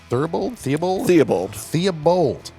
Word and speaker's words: Theobald: I'm here with Doug Theobald. Yeah, just like it's spelled. Just like it's spelled. Sometimes you wonder. Do you? I do. Okay. I mean, it's B-A-L-D. Right. Bald.